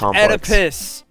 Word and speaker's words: Oedipus: I know, it's pronounced Oedipus.